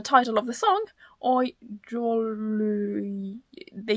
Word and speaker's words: Jouluyö: of you mentioned that the O is supposed to be pronounced like the Swedish O, which is an A with a little ring on top. So it's supposed to be Jouluyö, I suppose. Jouluyö.